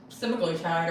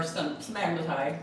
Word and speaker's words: semaglutide: And then Ozempic is semaglutide or semaglutide. It's actually acceptable to use either pronunciation, I've learned.